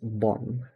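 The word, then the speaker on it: บอล: you pronounce it as Bon because the L at the end of a word in Thai is usually pronounced with an n so that this I'm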